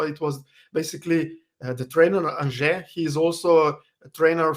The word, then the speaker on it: Anže: It's Anže. Okay, Anže.